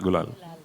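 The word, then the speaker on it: Gulaal: Gulal. Gul Gulal.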